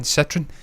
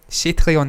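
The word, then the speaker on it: Citroën: Citroen, that's how you say Citroen, by the way. It's not Citroen, it's Citroen. See what I'm saying with the French, the way they pronounce words.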